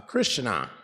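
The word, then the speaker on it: Krishnā: referred to as uh Krishna Krishna with a long a the feminine aspect of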